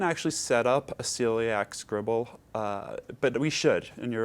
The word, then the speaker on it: Scriball: So how can people who face similar challenges use Scriball to, and is it Scriball or Scribble? It's Scribble. It's spelled S-C-R-I-B-A-L-L.